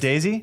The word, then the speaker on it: desi: yeah South Asians are you pronounce it Daisy they see desi you see there you